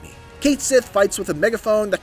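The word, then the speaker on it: Cait Sith: bit more detail and yes I'm saying Kate Sith because that's how they say it in the game don't come at me Kate Sith fights with a megaphone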